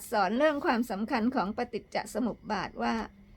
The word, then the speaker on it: ปฏิจจสมุปบาท: ดับ ทุกข์ หรือ นิโรธ คำ ว่า ปฏิจจสมุปบาท อ่าน ออก เสียง ว่า ปฏิจจสมุปบาท ถ้า ไม่ อ่าน ออก